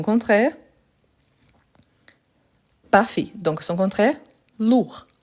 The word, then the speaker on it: lourd: parfait donc son contraire lourd lourd je ne prononce pas le D par contre quand je